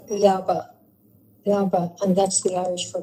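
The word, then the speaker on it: leaba: It sounds like Laba. And that's the Irish for bed. That's how you pronounce it, la.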